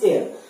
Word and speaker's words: heir: को इनहेरिट करते हैं, हम एयर होते हैं, HEIR प्रोनाउंस एज एयर।